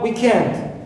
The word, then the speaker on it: weekend: I have also weekend. Weekend. I stress and second part, not week. Right.